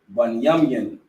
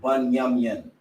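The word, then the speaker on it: בנימין: Bunyamyan, that's how you pronounce the tribe of Benjamin, Bunyamyan, and that's the so-called West Indies, which is your so-called Jamaicans, Trinidad and Tobago.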